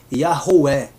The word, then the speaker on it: Yahweh: Yod, He, Vav, He, cuja pronúncia antes, olha que interessante, antes do exílio da Babilônia era Yahweh, e depois do exílio da Babilônia, com influência do aramaico, passou a ser Yehoah.